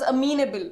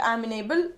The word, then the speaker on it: amenable: of amenable amenable means it is pronounced as a mean able not amenable amenable amenable means open